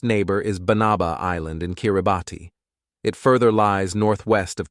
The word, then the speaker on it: Kiribati: Number 9 is Kiribati, pronounced Kiribati, which won independence from the United Kingdom in 1979.